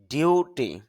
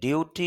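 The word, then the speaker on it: duty: আমরা ডিউটি বলি কিন্তু ডিউটি উচ্চারণটা হবে না উচ্চারণটা হবে ডিউটি এখানে আইপিএতে খেয়াল করেন উপরে একটা চিহ্ন দেওয়া হয়েছে এটা হল স্ট্রেস মার্ক অর্থাৎ এখানে একটা চাপ দিতে হবে।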